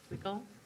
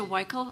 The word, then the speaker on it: Weichel: Wilkel? I've been saying it wrong. Michael? Thank you, County Commissioners. I'm Weichel.